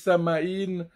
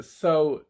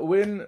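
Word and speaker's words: Samhain: Ouais, il y a toute cette histoire avec ceux que certains prononcent, d'autres disent samaï, mais la vraie prononciation c'est sain.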